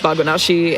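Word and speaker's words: バグなし: And yeah, the um the hiragana translates to or like is pronounced bagonashi and it means no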